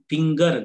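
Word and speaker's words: finger: ನೋಡಿ ಇಲ್ಲಿ ಫಿಂಗರ್ ಅಂತಂದಿದೆ, ಜಿ ಆದ್ಮೇಲೆ ಇ ಬಂದಿದೆ, ಫಿಂಜರ್ ಅನ್ನಲ್ಲ ಇದನ್ನ, ಫಿಂಗರ್ ಗ ಉಚ್ಚಾರಣೆಯನ್ನು ನಾವು ಮಾಡ್ತೀವಿ.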